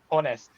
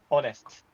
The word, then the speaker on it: honest: I before another teachers uh shared me uh honest honest H is a weak weak honest honest honestly. Yeah. Not honestly. Yeah. You don't really pronounce the H that much.